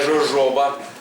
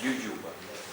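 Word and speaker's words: jojoba: япікс ююба не жужоба не жожоба як у нас пишуть як її не Напиши вона читається все одно не дуже добре і не не дуже милозвучно Що ююба що жожоба але все ж таки читається латиною як ююба не читайте як Джей будь ласка не читайте як джейpкс або дджаба як це роблять американці Q читається як звичайне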